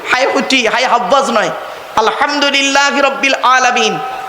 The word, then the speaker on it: আলহামদুলিল্লাহ: আলহামদুলিল্লাহি রাব্বিল আলামিন। আলহামদুলিল্লাহ, গলার ভেতর থেকে হ্যাঁ এটা উচ্চারণ করবেন দয়া করে।